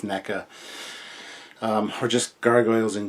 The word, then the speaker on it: NECA: you're a fan of Nika NECA I keep saying it wrong it's NECA um or just gargoyles